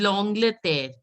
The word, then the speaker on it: L'Angleterre: This is L'Angleterre. L'Angleterre. Langlet. See, AN is pronounced as on.